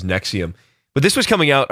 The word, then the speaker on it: NXIVM: But yeah, I think I've heard it pronounced as Nexium.